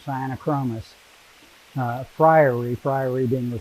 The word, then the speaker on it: Sciaenochromis: on spelling bees uh the that ae together is a latin uh vowel which is pronounced long i uh so the cyanochromis uh and i'm not